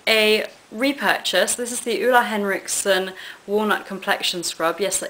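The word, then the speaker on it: Ole Henriksen: i picked up a repurchase this is the ula henriksen walnut complexion scrub yes that is how you pronounce his name um i love this which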